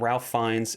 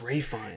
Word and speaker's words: Ralph Fiennes: The film stars Gemma Arterton and Ralph Fiennes and Ray Fiennes. Oh, it's Ray Fiennes. It is Ray Fiennes.